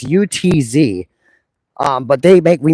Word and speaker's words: Utz: a town dispute about how to pronounce that word, it's UTZ.